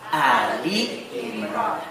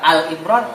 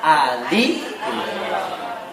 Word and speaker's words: Ali Imran: Kalau ada surat, Ali Imran. Cuma telinga kita nggak biasa, nggak enak. Nah itu juga Al Imran, salah lagi. Ali Imran.